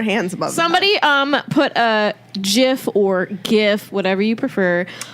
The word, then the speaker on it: GIF: Somebody put a GIF or GIF, whatever you prefer. no, Of it's pronounced my Kermit the Jif. Frog arms, if you know what we're talking about. It's pronounced Geif.